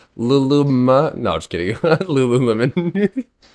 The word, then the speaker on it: Lululemon: Lululemon. I've been calling it Lulumon for like like a Digimon, bro.